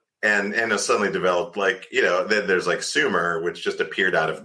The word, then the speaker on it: Sumer: suddenly developed then there's Sumer, which just appeared out of nowhere. Oh, here's, or if you want to say it how they say it, they would have said it would have been Schumer, but so Sumer appears out of nowhere.